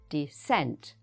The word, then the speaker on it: descent: Descent usually has the stress on the second syllable. Descent.